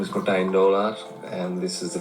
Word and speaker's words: Martijn: My name is Martijn Doolaard. Wow. He's saying P, right? He's saying Martijn. Martijn. His name is spelled M-A.